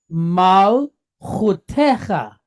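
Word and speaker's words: מלכותך: So we're going to pronounce this as cha. So the word here is mal hu te cha. All right. Mal chutecha.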